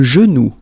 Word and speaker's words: genou: Le genou, le genou.